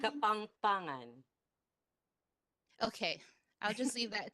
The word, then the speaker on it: Kapampangan: Kapapangang. For those, I think I'm already saying it wrong. I can tell. Sister Hazel, is that how you say it? Kapapangang? Kapangpangan.